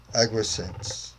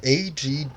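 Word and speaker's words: Angwisance: from the great King Agwisance. I completely butchered that. It's Agwisance. Agwisance? Agwisance?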